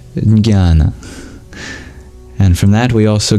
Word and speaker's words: jnana: And the Greeks got that from the ancient Indians, from the word jnana. Or as they pronounce it with a J in front, jnana.